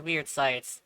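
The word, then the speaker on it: Wyrd Scythes: Dagath's first ability is, Weird Sights, apparently is what it's actually, pronounced as, which DE decided to look it up and found out that yes, it is Weird Sights, which is weird.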